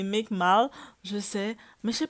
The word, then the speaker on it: Meek Mill: commentair on écrit de c'est pas mic mac c'est mic mal je sais mais je